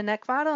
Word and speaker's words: Neckvatal: name, which is Neckvatal, and the last name is spelled N-E-C-K, like the thing you want to choke, V as in Victor, A-T-A-L.